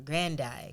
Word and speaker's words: Grande: of saying people's name just like we were saying ariana grande and it's ariana grande that's really how you pronounce it i never knew this that's how you pronounce your name yeah or grandai grande it's not grande though it's just she somebody